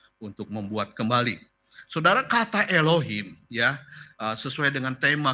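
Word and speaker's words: אלוהים: Beresit bara Elohim. Dibacanya seperti itu, Sa-saudara.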